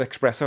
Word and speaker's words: espresso: I I said espresso. I put an X. It's hard not to put X in there. Even though I know how to spell it, I want to say espresso. It's not my fault. It's the English language.